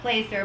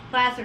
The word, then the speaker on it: placer: mentioned the word that's placer because some people pronounce it placer but it's plastic plaster deposit um give us a real quick definition